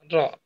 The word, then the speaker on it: ر: একটা ছোট্ট একটা উঁচু জায়গা আছে, সেই মূর্ধা থেকে জিহ্বার আগা একসাথে লেগে র উচ্চারিত হয়।